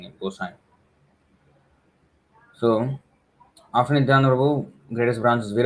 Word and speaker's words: गोसाई: This is the many devotees pronounce this as Gosani. He's not a Sindhi fellow. This is Sindhis. Their name ends with Ani. Anyway, Gosai. There's a nasal sound.